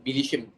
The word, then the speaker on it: bilişim: But and that bilişim is that word.